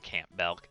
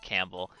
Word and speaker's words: Campbell: that's if that's cool with you guys not camp milk that's how it's spelled it's pronounced campbell uh after the kernel from uh metal gear solid there we go beautiful this is campbell thank you for the suggestions of everybody ooh